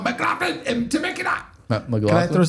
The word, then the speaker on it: McLaughlin: It's pronounced Yeah, it's called Mclaughlin and Temecula.